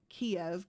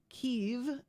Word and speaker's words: Kyiv: It's not Kiev. Kiev is Russian. Kyiv is what we're saying, which is better. But I believe the actual pronunciation is Kyiv. Kyiv, right? I think it's Kyiv. Maybe I'm still pronouncing it wrong.